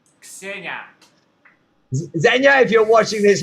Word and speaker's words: Ksenia: don't know how you say her name, K-S-E-N-I, Kesnia. And you know, Ksenia. Oh, Xenia.